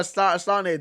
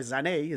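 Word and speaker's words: Sané: antics that Le Lero Sane does right are mad but I I just like the way like like the Germans pronounc his freaking name Lero Zane Zane we say Sane but Zane right um even Spurs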